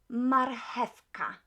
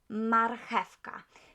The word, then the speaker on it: marchewka: Marchewka. Marchewka. English speakers tend to pronounce it as marchewka. CH as H in Polish, so marchewka.